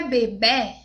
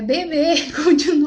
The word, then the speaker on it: beber: circunflexo do espanhol Agudo Então não é Bebé É Beber Beber não existe esse bebê